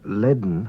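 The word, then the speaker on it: lane: The word leaden, meaning full, is pronounced as if there were a D before the N.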